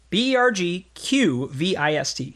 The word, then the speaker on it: Bergqvist: B-E-R-G-Q-V-I-S-T.